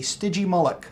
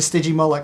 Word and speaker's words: Stygimoloch: look it up to see how it was pronounced. It's called a Stygimoloch, and that's how it's pronounced. It's the headbutting dinosaur. So Chris Pratt, he and I don't know about that. It's a Stygimoloch.